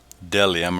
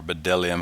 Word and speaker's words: bdellium: and the onyx stone when i looked at deliam or bdellium however it's pronounced betel lock i believe